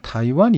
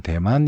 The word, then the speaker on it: 타이완: 가지게 됩니다 자의 중국이 있고요 그 다음에 이제 타이완 이 있습니다 뭐 예전에는 대만 이라고 읽었는데 요즘 문제다 이관 이라고 할 쪽 이